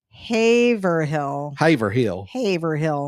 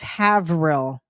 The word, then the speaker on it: Haverhill: No, I was looking at it's Haverhill. Haverhill will travel. Haverhill. It's 2 syllables.